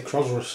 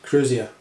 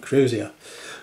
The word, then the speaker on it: crozier: I always say Crozerus or something like that. I always say it wrong. Crozier. I'll have to practice that. Crozier.